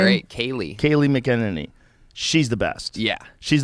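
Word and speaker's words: Kayleigh McEnany: Kylie McEnany? Oh, yeah. How do you say her name? Great. Kaylee McEnany.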